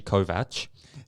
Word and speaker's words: Kovacs: to take Takeshi Takeshi Kovach and with subtitles yes you know I thought it would be yeah I thought it'd be Kovacs but again that's just how it's spelt yeah but yet nonetheless